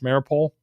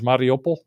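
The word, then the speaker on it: Mariupol: big battle is going on the western pronunciation pronunciation is marple you know that's how it looks how it's spelled the actual americanization from a russian is mariopol so you learn things like that you learn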